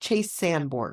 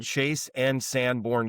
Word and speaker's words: Chase and Sanborn: Is it Chase and Sanborn, or is it Chase Sanborn? Chase and Sanborn Coffee. I have been saying it wrong this entire time.